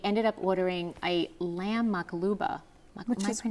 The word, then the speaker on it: maqluba: specials, and I ended up ordering a lamb maqluba. Which Am I is what?